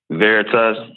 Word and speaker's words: Veritas: VERITAS, is that how you pronounce it? VERITAS.